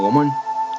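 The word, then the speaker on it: gnomon: de un gomón palabra y escrita como g n m en él y pronunciar de manera correcta como domón es un reloj solar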